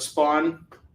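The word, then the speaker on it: Spahwn: So, I created my own version of um Spawn, and it's S P A H. There's a silent H in there, WN. And it's kind of like Shawn, but Spawn, you get it, you know.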